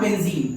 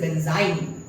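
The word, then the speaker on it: benzyne: जब आखिरी में डबल बॉन्ड आती है बेंजीन स्पेलिंग होती है, लेकिन यहां पर चूंकि ट्रिपल बॉन्ड आ चुकी है तो इसका नाम होता है बेंजाइन। इट इज नॉट बेंजीन, इट इज बेंजाइन, एंड इट is intermediate of this reaction.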